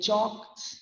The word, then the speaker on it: chalk: when we are saying chalk it will be c h a k but when we are writing it it is c h a l k we don't say it